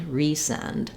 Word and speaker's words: resend: Resend is still stressed on the send, but it has secondary stress on the re, because you want to make a difference between send and resend. So re is also clear and a long syllable, clear vowel, and send has the F vowel for letter E, resend.